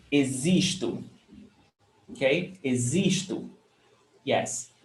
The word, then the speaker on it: existo: Eu existo. Pay attention to the pronunciation. Existo. Okay? Existo. Yes. The O is pronounced with U. Existo. And the X is pronounced as Z.